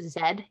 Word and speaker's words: zed: Also, like, in Canada, like, the letter Z is pronounced Zed here.